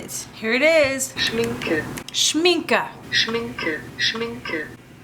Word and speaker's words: Schminke: Schminke. Schminka. Schminke. Schminke. Schminka. Schminka. Schminke. Okay, I was saying it correctly.